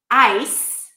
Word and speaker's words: ice: Ice has the I diphthong and then an S sound, ice. Eyes, my eyes begin the same way, eyes. The Z sound is the pair of the S, the consonant pair of the S. Only the Z is voiced, so we activate the vocal cords, z, z, z, versus s, s, s.